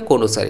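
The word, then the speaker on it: connoisseur: Pronunciation है कोनोसर, इससे related अब फ्रेंड आपको स्पेलिंग एरर भी मिल सकता है।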